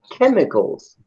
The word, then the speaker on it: chemicals: Yeah, this CH sounds like a K. It's very unusual. Because usually the CH here, usually that sounds like ch, ch, ch. But in this word, it sounds like this. Chemicals.